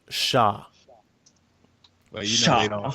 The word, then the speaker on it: Char: but my pronunciation of char was wrong oh apparently in Japanese it's pronounced Shah you know I'm saying